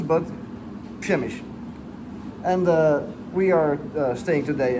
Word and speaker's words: Przemyśl: Today we are in, I just learned how to say this, Przemyśl. There are way too many consonants in this word for the way that it sounds, but Przemyśl.